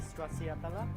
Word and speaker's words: stracciatella: For the next course, we have the smoky stracciatella. How do you pronounce the cheese?